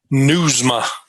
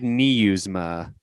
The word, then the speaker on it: Nieusma: last name for us newsma just like you're reading news to your mom i said we i said niusma that's the hawaiian pronunciation